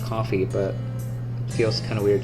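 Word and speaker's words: Ko-fi: on Kofi or coffee I think it's pronounced coffee but feels kind of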